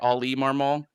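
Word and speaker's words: Oli Marmol: say it katie right ali marmal not oliver straight up ollie like oliver okay marmal molly marmal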